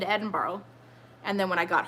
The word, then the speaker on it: Edinburgh: properly pronounce Edinburgh because somebody I think it was in my British friend said Edinboro Edinboro like that I think it might